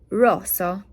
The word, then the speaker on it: rosso: Technically, red, you're saying faster. You're saying rosso.